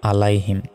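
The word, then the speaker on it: عَلَيْهِمْ: দেখুন, আলাইহিম যদি বলি এখানে আইনের জায়গায় আলিফের উচ্চারণ করে ফেললাম, তখন তো আমাদের ভুল হবে। এখানে আছে আইন, আইন জবর হয় আ, গলায় চাপ দিয়ে আইন অক্ষর উচ্চারণ করতে হয়, আলাইহিম।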